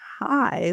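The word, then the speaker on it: חי: So, um but um uh it is also when pronounced hi like hi, how are you?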